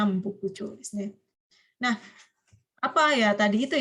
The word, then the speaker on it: Nambokucho: Ya, istana selatan Nancho dan Hokucho, tapi bacanya jadinya Nambokucho.